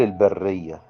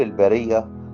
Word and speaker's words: البرية: البعض مننا ينطقها كل البرية. البرية اللي هي الصحراء، لكن يطهر كل البرية. الله بيطهر كل الخليقة. البرية معناها الخليقة، لأن الله يدعى في اللغة العربية كده الباري. الباري يعني الخالق. إذن هي تنطق إيه؟